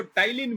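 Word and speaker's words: ptyalin: लार से लने वाले एंजाइम को टाइलिन भी कहा जाता है यहां पर पी साइलेंट है और म्यूकस भी होता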